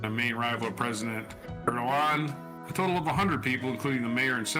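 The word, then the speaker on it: Erdoğan: The opposition figure is seen as a key rival to President Recep Tayyip Erdogan. Erdogan is how you pronounce that. You don't say the G. Erdogan.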